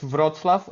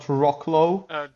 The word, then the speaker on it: Wrocław: By the way, it's Wrocław. It's not Wrocław. Okay. It's basically like in German, W is pronounced like V.